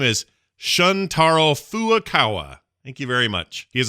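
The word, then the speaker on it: Shuntaro Furukawa: new to do Nintendo's president and his name is spelled funny so I'm gonna try my best his name is shuntaro foo Okawa thank you very much he's apologized for joi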